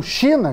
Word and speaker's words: XINA11: não demorou muito para o China que se escreve x e n a 11 se popularizar em poucos